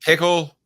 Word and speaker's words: Pickell: JD Pickle, is that his name? Am I pronouncing it right?